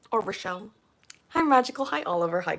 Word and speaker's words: Rachel: It's pronounced Rachel.